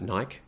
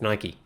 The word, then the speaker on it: Nike: I also hate the people that call it Nike. Why is it Nike? It's Nike. Get it right.